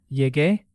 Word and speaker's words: llegué: Llegué, llegaste, llegó, llegamos, llegaron. But notice something in llegué. The spelling changes a little before A. That's because Spanish wants to keep the hard G sound.